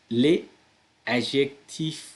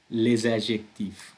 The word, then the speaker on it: les adjectifs: තව බලන්න මම මේක pronounce කරද්දී මම කියන්නේ les adjectifs කියලා නෙමෙයි. මොකද මෙතන මේ අදාළ word එක end වෙන්නේ s එකකින්.